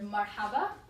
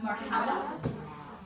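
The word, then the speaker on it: مرحبا: Marhaba. Can we say that? Marhaba. Marhaba. Very good. Okay. So marhaba is spelled like this.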